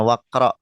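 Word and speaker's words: واقرأ: Jadi bacanya waqra. Jadi kalau ada hamzah wasal bacanya seperti itu langsung gitu. Dia tulisannya ada tapi enggak terbaca teman-teman.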